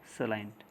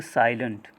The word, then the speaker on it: salient: See here, this is called here salient. Okay, it is not pronounced as a silent. hmm? Its pronunciation is salient.